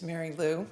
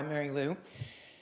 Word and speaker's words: Mary Lou: got Mary L you pronounced my name perfectly it is Mary Lou I like I go by Mary Lou um and I'm sitting